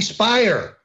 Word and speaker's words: Speier: please throw half congresswoman Jackie Speier rhymes with liar running around saying all